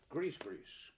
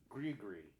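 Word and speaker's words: Gris-Gris: up here he is Grease Grease Chris Chris I used to say Chris Chris but I think it's pronounced grigri all right now I had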